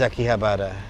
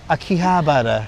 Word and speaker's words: Akihabara: I feel that um another place that's changing very quickly is Akihabara.